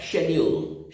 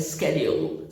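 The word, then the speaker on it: schedule: जैसे British pronunciation होता है शेड्यूल, शेड्यूल। और कितने फिल्म स्टार्स को आप देखते होंगे, जब बोलेंगे तो कहेंगे, इंटरव्यू वगैरह में जब आप देखते होंगे तो कहते हैं स्केड्यूल, स्केड्यूल।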